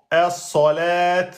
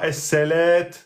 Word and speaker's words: الصلاة: Hein, on dit es-solet et non pas es-selet.